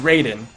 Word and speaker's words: Raiden: Okay, if it's the Mortal Kombat one, it's Raiden.